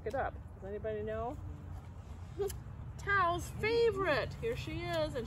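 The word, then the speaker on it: Thao: My name is Tao. It helps if you take out the H when you say it, but remember to put it back in when you spell it.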